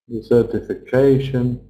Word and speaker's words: desertification: So, like I said, we always stress the syllable before shun. So, pollution, solution, desertification, overpopulation. What can we do about it?